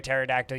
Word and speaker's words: pterodactyl: can't you hear a pterodactyl urinate it's because the p is silent the groans are still